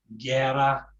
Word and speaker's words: guerra: So alguien, guerra for war, guerrilla for little war. So it's just it's in English, of course, we'd get a worse sound, but in Spanish it's just a hard G.